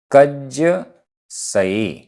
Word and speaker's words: कज्जसये: कज्जसये, आधा ज पूरा ज, कज्जसये।